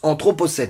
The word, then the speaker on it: anthropocène: Aujourd'hui, le mot c'est anthropocène, et ça se prononce anthropocène.